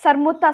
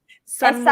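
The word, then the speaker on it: Sir Mutha: Yeah, it's Sarmutta School. Sarmuta. SIR and then MUTHA.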